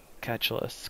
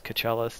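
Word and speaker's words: Keechelus: here's an aerial view Lake catulus cachell depending on how you want to pronounce it yeah so you can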